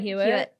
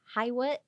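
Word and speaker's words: Hywet: to the Stan Stan hu well it's not pronounced hu it's pronounced HIIT I think that's embarrassing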